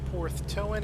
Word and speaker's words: Porthtowan: Porthtowan Airfield. Is that how you pronounce it?